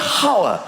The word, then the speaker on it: hour: Why is there an H? The silent H. Nobody has ever said, "I'll see you in an hour.